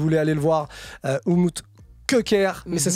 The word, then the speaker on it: Köker: Oumoud, en tout cas, si vous voulez aller le voir, Oumoud Köker, mais ça Mhm.